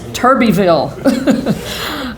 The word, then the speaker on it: Turbeville: little blacktop roads including Tuberville Tuberville turbotville I think the official the official pronunciation is Turbie Vil but I am I've